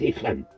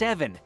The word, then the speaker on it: Evan: You think they'll fall for that, Ethan? Evan! It's pronounced Evan.